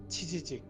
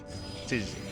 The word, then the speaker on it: 치지직: 치지직.